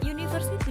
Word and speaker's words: university: University diawali dengan huruf U. Kenapa menggunakan e? Karena dibacanya soundnya university, U seakan-akan diawali dengan huruf Y.